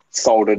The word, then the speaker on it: solder: And then I just soldered a resistor to one end, and then I just tested that. Why do we not pronounce the L in solder?